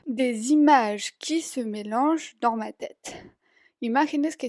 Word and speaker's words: mélangent: Entonces, ya ven que cuando los verbos acaban con ENT así, que significa que está en plural, se pronuncia como si solo tuviéramos una E al final.